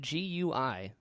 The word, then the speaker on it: Gui: i didn't know that yeah it's it's spelled g-u-i pronounced gui and it means turtle yeah in chinese